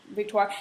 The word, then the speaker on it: Victoire: that Austin's gonna love Victoria now how do you say I I say Victor is that the right way to say it that's right yeah okay yeah yeah people